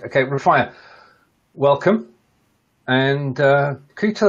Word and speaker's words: Rafia: Now, have I pronounced your name correctly, first of all? Yes. Right, okay, Rafia, welcome.